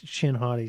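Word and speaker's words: Shin Hati: I said it wrong it's not him shotty it's chin hoti sorry forgive me then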